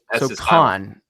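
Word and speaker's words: Cannes: film festival that's what I mean but it's pronounced KH it's not no s don't say s it's KH con okay um and that's it's a vase production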